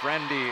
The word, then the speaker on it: Friendy: But she said to me, no, it's Friendy. It was written as friendly initially on our roster in 2025.